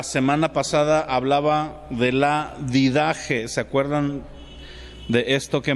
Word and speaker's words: Didache: estos escritos Qué significa didaje significa enseñanza viene de la palabra de algo didáctico eh okay se escribe así didache did con d did Che se pronuncia con j porque la ch va